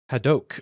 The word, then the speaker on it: Hadoque: Hadoque, okay. Literally just Hadoque in Swedish, I believe.